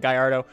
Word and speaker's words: Gallardo: Also, I'm going to be calling it Gardo. Europeans are going to yell at me and say I should call it Gallardo, but I think it sounds funny when Americans say it that way, so I'm calling it Gallardo.